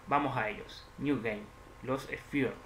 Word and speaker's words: Lost Sphear: New Game, Los Sphere, sí, y se pronuncia así. Si no, vamos a preguntarle a Google cómo se pronuncia el nombre del juego. A ver, ¿qué dice Google? Bien. Los Sphere, lo he pronunciado bien.